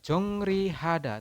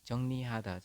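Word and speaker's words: 정리하다: Ini tulisannya adalah jongrihada, tetapi Anda membacanya adalah jongnihada, seperti itu.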